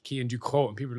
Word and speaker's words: Cian Ducrot: Do you know, uh, well actually you can now go around and be like, Kean Duco.